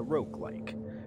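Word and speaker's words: roguelike: I do remember it it's not like hard G it it's very much like um Rog because it's a Rog like but it's like if you've ever actually played Rogue which I really should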